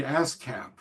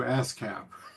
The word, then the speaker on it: Haskap: In Quebec, they um they call it Camarice because uh they don't pronounce their hes. So, that would be ascap.